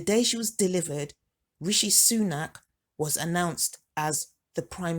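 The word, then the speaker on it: Sue-Nak: So I named her Sunak, which is spelled S-U-E, then a hyphen, and then N-A-K.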